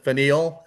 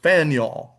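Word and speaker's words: Faneuil: A lot of people pronounce it fine. That would be quite understandable. But the actual pronunciation is Faniel. Faniel Hall and again this is in Boston uh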